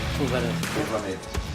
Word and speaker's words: Llwellin: Llwellin.